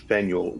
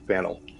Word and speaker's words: Faneuil: French spelling confusing name of the building is pronounced Fanueil or Fennell getting it wrong is a good way to